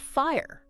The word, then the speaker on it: FHIR: I not a typo it's actually pronounced fire and it's kind of